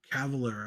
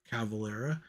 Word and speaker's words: Cavalera: me of Max and eigor Cavalier I finally said it right eigor cavalera um when they did